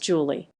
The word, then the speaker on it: July: July pronounced Julie.